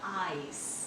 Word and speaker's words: ice: तो ये हुआ, इसका प्रोनाउंसिएशन होगा आइस।